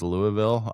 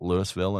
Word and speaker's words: Louisville: It's kind of the way It's kind of the way that everybody that lives in Louisville says Louisville. I call it Lewisville and it just pisses people off.